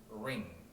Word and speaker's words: ring: 약간의 팁을 알려드리자면 리을 발음이지만 혀가 아무데도 안 닿으면 돼요. 혀가 공중에 떠 있어요. 그래서 예를 들어서 반지 있죠. 반지. 반지는 ring 이거든요.